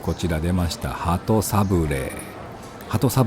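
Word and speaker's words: 鳩サブレー: Cách phát âm tiếng Nhật là HATO SABLEE. Kéo dài cách phát âm của chữ E cuối cùng.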